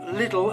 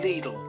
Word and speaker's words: Lidl: And my favorite, Lidle. Note the pronunciation, not Little as it is in the UK, but Lidle, which is the other German retailer.